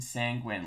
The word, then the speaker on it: sanguine: doing for fun sanguine or pronounced sanguine sanguine like penguin okay okay so um